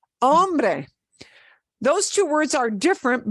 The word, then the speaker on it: hombre: the word is Ambre if you get your vowels right you'll always pronounce this hombre hombre those two words are